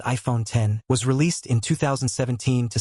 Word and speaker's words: iPhone X: The iPhone X, pronounced iPhone 10, was released in 2017 to celebrate the 10th anniversary of the iPhone.